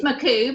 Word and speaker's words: McCoo: It's McCoo, but yes, McCoo.